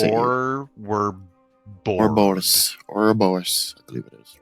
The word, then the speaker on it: Ouroboros: Ouroboros, I believe it is, right? How do you say that, Baranji? Please correct me. Ouroboros, thank you.